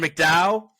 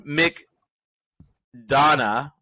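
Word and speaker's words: McDonagh: up directing we've got Martin McDowell uh pardon me Martin Mick Donna in banshees of inner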